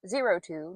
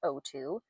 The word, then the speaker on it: 02: In my recent Digimon Adventure 02 video, and I learned after posting that that it is pronounced 02, not O2, I mentioned that I might need a bit of a Digimon break after making that very substantial video.